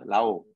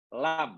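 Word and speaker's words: لام: Lam, la itu mana pasti. Lam, membacanya lam ya. Kalau dibaca satu huruf, bacanya lam, bukan la.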